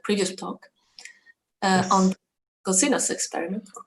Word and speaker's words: COSINUS: We pronounce it in the German way.